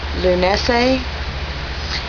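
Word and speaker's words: Lughnasadh: Lunese, which is spelled totally different than it sounds, is August 1st.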